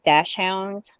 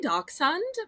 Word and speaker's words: dachshund: I call them but I think you can pronounce it like dash hound yes or some people say dachshund but I think that's the European uh variety but yes I'm gonna